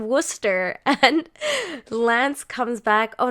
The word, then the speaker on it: Worcester: oh my god so why is it pronounced Wooster okay so Chris says it's pronounced of Wooster and Lance comes back